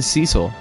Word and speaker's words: Cecil: I keep saying Cecil. According to World of Final Fantasy, it's pronounced Cecil, but...